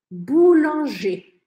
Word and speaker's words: boulanger: é a transformação, tanto na escrita quanto na pronúncia? Eu vou falar e você repete. Boulanger.